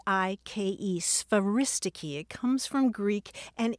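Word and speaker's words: sphairistike: Charles hope probably used used is speris oh spell that s p h a r i s t i ke speris it comes from Greek and it's an old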